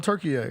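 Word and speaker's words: Türkiye: Then they remixed it. Now you got to call them Turkiye.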